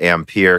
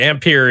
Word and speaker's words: Ampere: I kind of agree ampere is the way that it would appear to be pronounced now if they had the accent mark on their marketing which would be very pretentious but if they do I will say it a different way now no they wouldn't